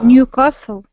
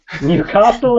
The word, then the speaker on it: Newcastle: Castle, the T is silent.